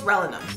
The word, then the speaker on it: rellenos: Squinkles, rellenos. The double L is a Y.